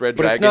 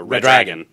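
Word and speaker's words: Redragon: going to justum it's red dragon it ised Dragon I think you got to run it yeah run it together a little more it's a red dragon red dragon or red dragon red dragon Dron m601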